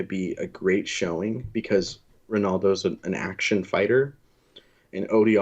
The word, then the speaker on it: Ronaldo: I do believe it is Ronaldo because it's Spanish language rather than Portuguese. Because I think yeah, they pronounce it Ronaldo. yeah, it's gonna be an R sound.